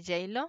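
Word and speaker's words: Geilo: un carro hacia la ciudad de yale así es como se pronuncia y eso darme una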